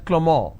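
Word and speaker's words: Clément: it's pronounced at Avril the name Clement is pronounced as clemor in French so the names are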